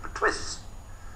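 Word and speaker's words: Perthuis: And nobody could pronounce the name properly, Pertwee de Layevo, P-E-R-T-H-U-I-S. They couldn't pronounce it, so the illiterate English pronounced it Pertwis.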